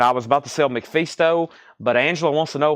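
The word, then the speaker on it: MacPhisto: And I was about to sell McFeasto, but Angela wants to know how we spell it. It's McPhisto.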